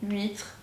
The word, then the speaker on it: huître: Donc on ne prononce jamais la lettre H, on dit huile, haricot, huître, huit, etc.